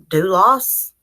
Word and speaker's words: Dulos: TV muted so I think get out of pronounce her name it's bul OS her name is Jennifer to do loss is they sadly lost they lost do us